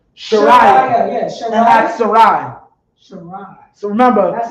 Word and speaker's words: Sarai: Sarai. So remember, That's how you pronounce it.